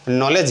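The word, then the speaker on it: knowledge: কুয়া হয় যাহা আবু বুন লেখা যেমন হয় নলেজ গিয়ে তাহলে কে এন ও ডব্লিউ এল ই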